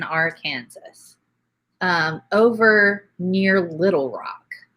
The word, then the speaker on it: Arkansas: and jump into there it's illegal to pronounce it R Kansas I used to live in Arkansas um over near Little